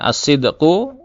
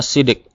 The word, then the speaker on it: الصدق: biasanya oleh orang Indonesia, lisan orang Indonesia itu mengatakannya dengan akhlak sidik, ya, as-sidqu, ya, dibacanya sidik.